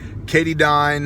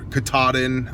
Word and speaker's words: Katadyn: versus the Sawyer mini Cady dine katadyn however Katahdin I believe is the actual pronunciation makes good filters